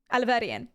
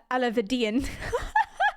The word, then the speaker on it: Alahverdian: Now, previously, he has pronounced it right. Alahverdian. But he was just like, Mr. Alahverdian.